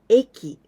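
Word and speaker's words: 駅: you like this there's only one way to pronounce eki station train station subway station and i want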